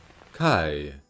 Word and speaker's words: chi: to p or f chi our x saga comes to a close basically this letter was always a sort of k or h sound in greek however some western variants